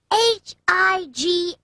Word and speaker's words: high: the end this word h IG 8 hi the word high ends with a silent G H you just sound out